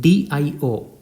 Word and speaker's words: Dio: The English letter D is pronounced in Italian as D. So the word DIO is pronounced as Dio.